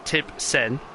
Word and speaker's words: Tib Sen: So it is Tib Sen, as I'm being told it's said, on pole in the Williams, which is something you don't see every day.